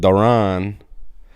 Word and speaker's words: Darren: was Darren he's like it is Darren but he pronounces it Daron and he was telling